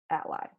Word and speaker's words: A11y: You can often hear ally pronounced as A11y, and here we said ally.